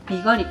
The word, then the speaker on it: BIGALICO: これがビガリコって読むんで、これ。